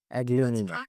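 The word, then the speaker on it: Aglaonema: Welcome to Pronounce American Aglan. Aglionea. So this is the first real plant that I have over here. It's called Aglionea.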